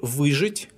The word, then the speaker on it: выжить: As to the verb выжить, all its forms are stressed on the first syllable.